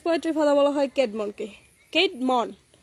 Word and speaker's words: Caedmon: Caedmon উচ্চারণ CAD না কিন্তু CAED CAEDMON।